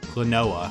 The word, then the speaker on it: Klonoa: Now, this guy is from, in my opinion, the criminally underrated Kelowna series. Or, Kelowna? There's some way else people pronounce it that's slipping my mind right now. Klonoa, that's it.